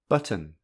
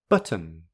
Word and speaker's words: button: for um is button if there is a vowel between the two final consonants then that is pronounced as it button button however if the um is a syllabic consonant then that becomes a glottal plosive this is the sound